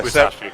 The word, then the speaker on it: Musashi: Am I saying that right? Yeah, Musashi. Brave Fencer Musashi, yeah.